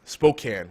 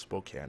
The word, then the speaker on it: Spokane: but it's actually pronounced Spokane apparently um that's not very phonetically friendly either because there is a e at the end there you would assume a hard a sound but no but H